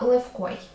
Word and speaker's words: левкой: Щодо слова левкой, якщо ти його вимовиш, тобі може здатися, що в якимось чином схоже на ф, але це хибна думка. В українській мові сонорні вимовляються чітко і тим більше перед глухим оглушення не відбувається. Тому ф і в - це зовсім різні звуки.